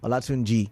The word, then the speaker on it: Olatunji: So Olatunji, I hope I pronounced it well. Olatunji, yeah, that's the pronunciation.